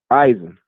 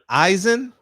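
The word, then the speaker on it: Ayzin: uh what's his name eisen ivan aye zen for the z eisen yeah spell it a-y-z-i-n eisen that's a i've never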